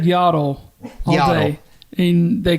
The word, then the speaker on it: Yaddle: a dog yeah so yaddle is yaddle yaddle yaddle is yaddle's cousin from Sand Mountain yeah I mean I guess it is spelled like paddle yaddle paddle and I'm not trying